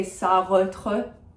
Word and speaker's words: Sartre: A lot of people say Sartre or Sartre or something like this. I don't know what to tell you. I think it's fine. He's also a very recognizable name. There's only so much you can do. If you can do the uvular R, go for it. Sartre.